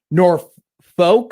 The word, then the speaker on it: Norfolk: Nor folk or fork. I believe in Virginia it is Norfolk, Virginia. Oh, they say it. Okay. They say it the way it is spelled.